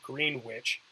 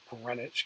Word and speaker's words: Greenwich: runs through Greenwich England that it looks like Greenwich it's pronounced Greenwich because it's you know it's British thing it's